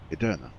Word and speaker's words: Edirne: always for some reason I've always swapped the r and I've ended up putting the r between the E and d and calling it ered